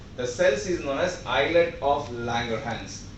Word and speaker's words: islet: The endocrine tissue, especially the hormone produced by it, is known as, the cells is known as islet of Langerhans. The S is silent there.